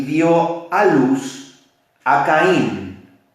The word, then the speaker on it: Caín: La palabra Caín es, diga conmigo, Caín, así como suena, Caín, K-A-Y-I-N, así se pronuncia, Caín.